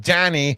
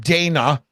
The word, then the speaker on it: Dani: your chops it's pronounced Danny not Dana okay there's no a there that's a clear I okay listen when you